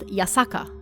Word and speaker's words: Yasaka: same characters for hashaku this Shrine is pronounced yasaka however and shikoku is also